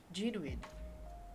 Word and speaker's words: genuine: So in this word we will pronounce as genuine, genuine, arctic, nuclear, okay, and so this is how it will pronounce for these 4 common words.